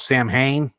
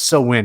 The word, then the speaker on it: Samhain: called uh blue so win and many people mispronounced that they call it samhain blue samhain but it's it's so win it's pronounced um yeah it's uh it's a